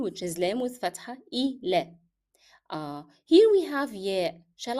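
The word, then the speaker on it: إلى: So how shall we say this? Ila, as if we are having here alif.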